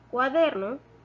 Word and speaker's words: cuaderno: De la palabra cuaderno, cuadernos, la sílaba tónica es der.